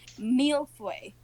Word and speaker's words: mille-feuille: Listen intently as he tells you it's pronounced mille-feuille.